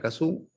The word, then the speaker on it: Cassou: escribir el apellido entonces se escribe el caso con doble s o un se pronuncia caso entonces preguntaba uno por qué porque es francés está bien te lo